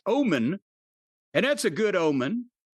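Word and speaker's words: Ohman: O H M A N. It's pronounced Omen.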